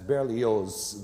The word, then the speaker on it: Berlioz: brilliant french composer hector berlioz that's barely yours the z is pronounced he called it symphony